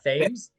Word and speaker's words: Thames: It's Thames.